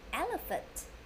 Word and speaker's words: elephant: So I think you know, it's an elephant. Yes, that's right. PH here, we pronounce F. F. E-E-A-A. L-A, L-A, elephant.